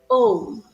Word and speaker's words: Om: So the first syllable is second syllable is oo, and the last syllable is humming sound of bees.